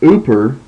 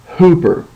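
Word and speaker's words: ὑπέρ: oilon P Epsilon row you wouldn't pronounce that as oer you would pronounce it as Hooper and so that rough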